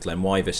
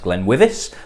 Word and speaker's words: GlenWyvis: For some reason at the start of this video I say that the pronunciation of GlenWyvis is GlenWyvis.